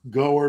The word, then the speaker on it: Goer: I know it's pronounced Goer because people in Moscow corrected me.